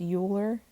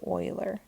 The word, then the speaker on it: Euler: even though it looks like it could be pronounced euler it's really called the euler okay and the history of mathematics is marked